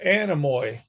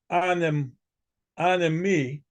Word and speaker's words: Anemoi: animy incident response yeah animy is a h is a terrible British mispronunciation of the Greek uh Gods that controlled the weather the Greek word an an me it refers to the